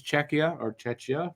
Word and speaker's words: Czechia: First was Czechia. That's how you pronounce it.